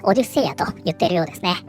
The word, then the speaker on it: Odysseia: Japan, it seems that they use the Greek pronunciation, not the English pronunciation, and follow that, say "Odysseia ."